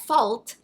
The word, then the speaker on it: fault: little more Latin apparently the L in fault was originally silent like this and in the 18th century it was sometimes pronounced and sometimes not so that fault actually rhymed with thought so thought anyway I